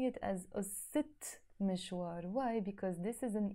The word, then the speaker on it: قصة مشوار: So I can't say ussa mishwar, no, never. I have to say ussit mishwar, the story of a journey.